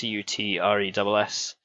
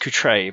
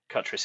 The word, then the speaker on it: Cutress: That's Cutress. The name is French. Apparently, I'm descended from 17th century French peasants. So it should be pronounced Coutre, but Cutress is how we go.